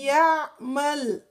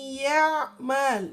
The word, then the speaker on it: يَعْمَلْ: You need to be careful not to do twitch for ain. You only do twitch for Hamza, not ain. And you try not to pronounce it like it has fatha on it. It has sukun.